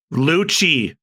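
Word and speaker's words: Lucci: Absolutely been decimated by how do you pronounce his name? Luchi.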